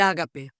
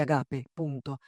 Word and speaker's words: ágape: Eh, la segunda parte, el ágape. Después te voy a hacer toda una historia sobre los acentos. Ágape. En castellano se dice ágape. Ese es drúculo. Diego se dice agape.